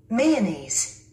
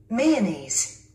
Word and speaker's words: mayonnaise: 한국인이 실수하기 쉬운 영단어 발음 135번째 시간입니다. 첫 번째 단어를 들어보시기 바랍니다. Mayonnaise. Mayonnaise. 우리 한국인들은 이 단어를 마요네즈라고 합니다. 그런데 원어민들은요? Mayonnaise.